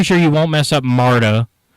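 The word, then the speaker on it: Marda: you won't mess up Marta cuz that's m a r d a that spelled phonetically yeah uh Jana's pretty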